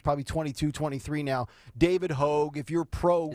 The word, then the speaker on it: Hogg: Is it Hogue or Hogg? I think it's spelled H-O-A-G, but I think it's pronounced Hogue. No, it's H-O-G-G, isn't it? Yeah, but I think it's pronounced Hogue. Oh, okay. Like hoagie without the E on the end.